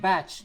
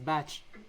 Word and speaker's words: Bach: By the way, it's pronounced Bach. It's not Bach. It's Bach.